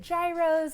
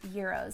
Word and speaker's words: gyros: Now I know that some people struggle to pronounce this. So is it gyros? Is it euros? It's actually pronounced euros.